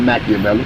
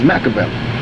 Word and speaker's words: Makaveli: my name is not Machiavelli my name is Makaveli I took it that's